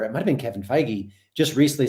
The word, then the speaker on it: Feige: One, they interviewed Kevin Feige. That's how you say his name, right? Feige?